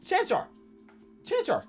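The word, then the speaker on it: Čančar: Oh, that's easy. It's like a Pokemon. Okay. Chanchar.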